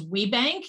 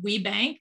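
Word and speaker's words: WBENC: the initials w b e n c we pronounce as we bank even though there isn't a there isn't an e after that w we bank w b e and c we pronounce this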